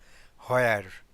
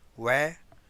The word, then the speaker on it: where: যেমন what, ওয়্যার, ওয়েন, ওয়াই, এগুলোর ক্ষেত্রে এইচটা সাইলেন্ট থাকে, এইচটার উচ্চারণটা হয় না বেশিরভাগ ক্ষেত্রে।